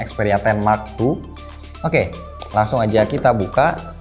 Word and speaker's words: Xperia 10 II: Di bagian depan ini ada keterangannya langsung Xperia 10 2, dibacanya Xperia 10 Mark II.